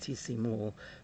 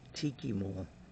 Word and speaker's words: Tikimul: There's a little town nearby called, it's usually pronounced Tisimul, but one of the old Mayan elders told me it's really Tikimul. That's how it's really pronounced, but some of the young people are saying Tisimul.